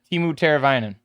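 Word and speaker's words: Teemu Teräväinen: No, I don't know how to pronounce this one. That is Timu Teravainen. Yeah, that. Timu Teravainen.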